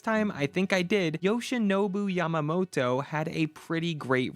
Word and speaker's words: Yoshinobu: Yoshinobu, did I say it right this time? I think I did. Yoshinobu Yamamoto had a pretty great rookie season.